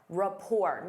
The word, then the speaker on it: rapport: Rapport. Notice that T is silent.